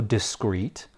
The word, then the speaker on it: discreet: Our next word is also discrete, only this time discrete is spelled D-I-S-C-R-E-E-T. Although it is pronounced the exact same way as the discrete we just went over, it has a very different meaning.